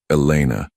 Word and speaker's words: Elena: "Elena," he tested the name, noting the slight emphasis she placed on the second syllable.